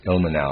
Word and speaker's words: Ilmenau: Ilmenau, I'm going to pronounce it that way, it's I-L-M-E-N-A-U, Ilmenau.